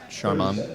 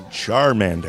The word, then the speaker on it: Charmander: Trader the Tiger Den will be Charlie's charmand Sharman Charmander Charmander fire type Pokemon I'm so embarrassed meant lack of Pokemon pronunciation I didn't see that didn't do enough